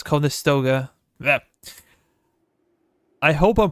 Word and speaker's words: Conestoga: I call it Contestoga, but it's Conestoga.